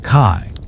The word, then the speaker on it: qi: One quirky or fringe tidbit about ancient Chinese beliefs is the concept of qi, pronounced kai, a vital life force or energy that flows through all things.